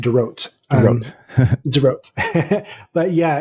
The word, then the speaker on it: Dorot: Yeah, it's pronounced Dorot.